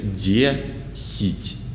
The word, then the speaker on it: десять: Letter E is stressed, so we say D, but unstressed letter Я in the middle of the word is pronounced like E, like unstressed E. So here is десять.